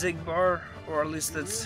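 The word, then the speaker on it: Xigbar: Pretty sure his name is pronounced Ziggbar.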